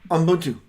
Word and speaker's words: Ubuntu: Ubuntu. And it's a Zulu pronunciation, and it means humanity, all of humanity.